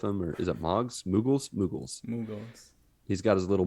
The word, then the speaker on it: moogle: my other favorite summon that's one i didn't mispronounce i used to call them muggles yeah no that's that's